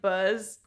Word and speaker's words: Baz: Yes, my name is Buzz. How would you spell that? Is that uncon? It's B A Z. A what do you mean? Buzz. Okay. So, like Buzz, but with an A.